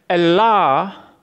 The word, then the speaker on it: Allah: Allah, ya, Allah is the way the word HHLA spelled from right to left as it is Aramaic is pronounced.